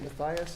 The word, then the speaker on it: Matthias: Presentation, Matthias, I think you say it Matthias is how it's said, but apparently he couldn't make it tonight.